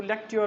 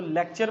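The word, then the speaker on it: lecture: तो ये जो ब्रिटिश होती है वहाँ पे इसको लेक्ट्योर वो कहते हैं, लेक्ट्योर। हम इसको लेक्चर पढ़ते हैं, लेक्चर में लेक्ट्योर होता है। ठीक है, तो ये इसकी असल प्रोनाउंसिएशन होती है।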